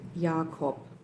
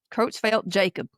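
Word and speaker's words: Creutzfeldt-Jakob: Kitzfeld Yakopitzfeld Yakop. Yeah. Yeah. And some of you may have heard it said Croat Croatfeld Jacob Z.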